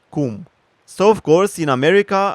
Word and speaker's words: cum: For example, the word in my country for how, it's come. More exactly, it's pronounced cum.